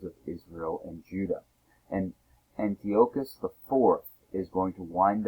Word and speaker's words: Antiochus: monotheistic faith but yet antiochus iv sometimes pronounced antiochus it depends on your background um trying to have